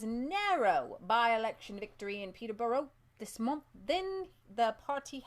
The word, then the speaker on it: Peterborough: is not there telling that's pronounced Peterborough Peterborough boro boro yeah yeah thank you guys